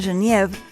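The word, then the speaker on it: genièvre: una planta supremamente aromática en francés se pronuncia genev en holandés genever y de ahí entonces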